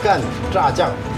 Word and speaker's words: 간짜장: 간짜장이 무슨 뜻인지 모르는 경우 되게 많은데요. 원 발음은 깐, 짜장. 깐이라는 드라이하다, 마르게 짜장을 볶는다 그런 뜻이고요.